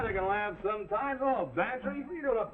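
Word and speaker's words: Bantreagh: Well, his is Bantry. Go on, spell it. Bantry. It sounds like pantry. I ain't no gambler, Mac. Well, get this for free. It sounds like pantry, but it's spelled B-A-N-T-R-E-A-G-H.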